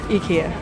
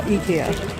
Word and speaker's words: IKEA: I'm gonna pronounce Ikea the Japanese way already. Ikea. Nihongo dewa Ikea.